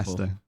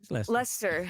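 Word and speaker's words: Leicester: it not see that it's leer leester Lester yeah that's just Lester but obviously most people go is Le usually oh no wa Lester actually wait no I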